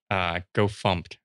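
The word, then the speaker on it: gofumpt: Like, it's just like, go fumped, right? I would never expect it to be pronounced fumped until I heard someone say it.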